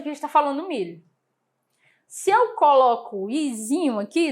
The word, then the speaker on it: mil: u certo mi Ok mas em espanhol ele tem um som que a gente chama de lateralizado a gente vai levantar a língua certo então vai ser mil Ok mil Então já